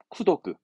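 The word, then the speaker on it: 功徳: 다음에 요게 이제 NH스러운 부분인데 공덕을 쓴 건데 발음이 쿠로 가요. 쿠도크.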